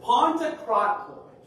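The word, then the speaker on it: Παντοκράτωρ: And the Greek word is Pantokrator. I had to sound it out for me in my notes, so I say it right. Pantokrator.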